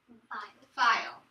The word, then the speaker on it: file: Remember, the E is silent, but let me take this. My word is file.